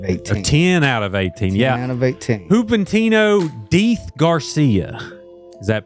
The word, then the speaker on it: Juventino Diz Garcia: Juventino Diz Garcia. Is that pronounced correctly?